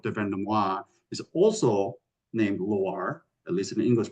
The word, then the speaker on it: Loir: Vendomois, is also named Loire, at least in the English pronunciation, but it's Loire without the E. So it's Loir, which is this tributary that runs up here.